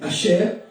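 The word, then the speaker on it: אשר: Azer, la bonne prononciation, c'est Asher. Hein, parce que après le S, il y a un H en hébreu, et ça se prononce Ch.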